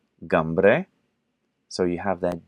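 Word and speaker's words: Cymru: you have whales which in their language is pronounced gamre so you have that G again GA which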